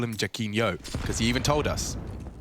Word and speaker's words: Jacquinho: Jacquinho, that's right, because he's a fan of Ronaldinho.